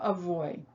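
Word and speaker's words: אבוי: have the key word avoid in yiddish it's shortened to oy vey but in hebrew it's avoi which is a great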